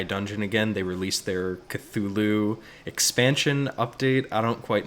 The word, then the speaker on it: Cthulhu: The correct pronunciation is Cthulhu. That's bullshit. No. Okay, hey, that's what Lovecraft says, man.